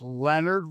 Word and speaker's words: Lenard: It's spelled Lenard, but it is Yeah. not French. It is Leonard without the O.